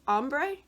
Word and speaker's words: Ambre: the correct pronunciation but it's ombre and I have a hard time saying it's basically the French version of amber and I don't know